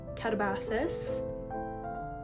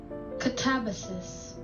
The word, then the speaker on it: Katabasis: Advanced reader Arc of catabasis catabasis catabasis pronunciation katabasis okay so I was way off katabasis that sounds so